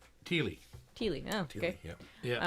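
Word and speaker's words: Thile: Did you find the Tile pick? T-H-I-L-E? Teely.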